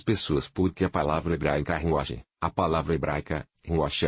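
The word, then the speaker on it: רוח: Que ruach é ruach que kh. Ou CH, e é pronunciado ruach como se você tivesse tosse.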